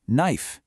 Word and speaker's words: knife: What is the silent letter in knife? You got it. The K.